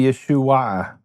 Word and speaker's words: Yeshua: It's the same “a” as the “a” in Yeshua. Yeshua is really Yeshua-a. It’s a little bit hard to say so they say Yeshua, but it’s really Yeshua-a, with an Ayin at the end.